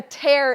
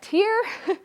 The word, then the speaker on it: tear: a uniform with a tear in it and then some of you said a tear um but of course tears are when we're crying tear same spelling different pronunciation